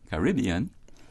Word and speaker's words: Caribbean: into four syllables and some people choose to emphasize the second I choose to emphasize the third yeah yeah parody on carbon all right people who choose to say Caribbean using that mode of